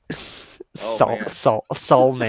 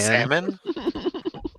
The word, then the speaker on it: salmon: of wait till I teach y' about salmon Sal man salmon not ready for that it's too early in